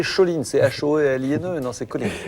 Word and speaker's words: choline: Et il y a aussi de la choline. La Ne choline, pas prononcer choline, c'est H-O-L-I-N-E, non, c'est choline.